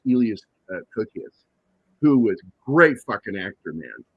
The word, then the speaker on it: Elias: Also, you had uh it's either Elias or Elas because he is Greek, so I think it's pronounced Elas Cookas who was great actor, man.